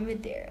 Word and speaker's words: Madera: Madera.